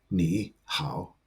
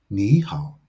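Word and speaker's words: 你好: When two third tones appear consecutively, the first third tone changes to a second tone.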